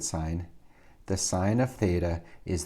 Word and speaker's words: sine: theta and we'll abbreviate sine as sin don't pronounce it sin i'll pronounce it sine the sine of theta